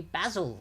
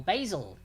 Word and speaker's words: basil: make pesto sauce so that would be basil or basil basil basil depending on where you're from and how you pronounce it basil and basil oh you have that